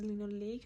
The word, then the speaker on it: linoleic: And whereas in omega 3 we have linolenic acid, there's a slight difference in the pronunciation. Omega 6 is linoleic acid and omega 3 is linolenic acid.